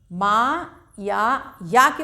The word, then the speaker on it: मयंक: चौथा मयंक, माँ या के ऊपर अंक की मात्रा लगी हुई है तो या को हम नाक से उच्चारण करेंगे, मयंक।